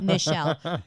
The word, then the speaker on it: Nichele: hi I have to I need to tell them like three times like Michelle okay so no there's an end there and I had to